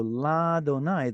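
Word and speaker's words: לַאדֹנָי: All right, so la Donai, the reason that there's a patach here is because of how the scribes tell us we're supposed to pronounce God's name.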